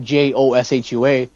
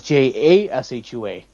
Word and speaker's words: Jashua: My name is not Joshua. My name is Jashua. So if you have like a heavy accent, you'll say Jashua instead of Joshua.